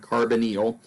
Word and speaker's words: carbonyl: this carbonyl group I mentioned before and we pronounce this word carbonyl it's a C double bonded oh and this